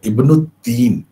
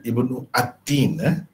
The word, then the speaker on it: Ibnu At-Tin: Caranya baca bila ada macam ni kita kena kata Ibnu Tin begitu ya. Bagaimana? Kena baca Ibnu Tin, bukan Ibnu At-Tin.